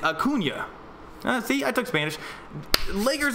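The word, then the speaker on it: Acuña: Because most people would think Acuna. Like, if you were just reading it phonetically, it would be Acuna. But because it's got the little Enye on there, it's Acuna.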